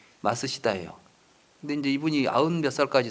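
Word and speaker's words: 松下: 이야기를 많이 하죠 어 마쓰시다 옛날 일본의 그 마쓰시다 라고 하는 기업이 있었어요 아무로 쓰면 소화 소나무 성 잘 알아야 짜서 마쓰시다 라고 읽어요 일본어로 이렇게 말 쓰시다 그 이 기업을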